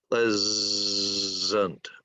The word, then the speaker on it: pleasant: This is also voiced, pleasant, and the S here is a Z sound, so it sounds like pleasant, pleasant.